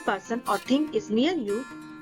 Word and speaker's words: ये: When more than one person और thing is near यू वी यूज़ the word ये इन हिंदी।